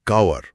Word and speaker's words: cower: उच्चारण है कावर, COWER।